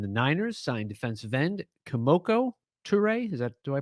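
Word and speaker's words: Kemoko Turay: aj green and the niners signed defensive end komoko toure is that do i pronounce that correct yeah yeah komoko turay by the way last thing about the washington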